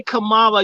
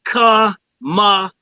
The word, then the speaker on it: Kamala: You know what you're just doing when you say Kamala, you make it sound like it's one of those ghetto bitch last first names. You're making her Black, mispronouncing her name. It's Kamala. Kamala. That's Kamala, like come out your dick.